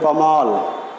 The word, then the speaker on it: কমল: আমরা উচ্চারণ না করি, আমরা উচ্চারণ করছি কিভাবে? এইভাবে কমল। ওকে, তাহলে যেহেতু মধ্য এর আগে এখানে কয়ের সঙ্গে একটা অ রয়েছে, মধ্য অ এখানে ময়ের সঙ্গে অ রয়েছে, তার আগে একটি অ আছে, তাহলে আমরা সূত্র অনুযায়ী এখানে উচ্চারণ করব কমল, অর্থাৎ মধ্য আটা ও এর মতো উচ্চারিত হবে।